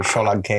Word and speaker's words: Solanke: Thank you for bringing up the right way to pronounce it. Solanke, isn't it? Solanke. When you get in front of your Tottenham fan base, you just tell us Solanke. Dominican Republic. Solanke. Yeah, that's how you pronounce it.